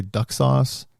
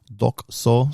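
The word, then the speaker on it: Dokusou: Did I say duck sauce? No. You got to pronounce it right and you got to hear it's Dux Soup.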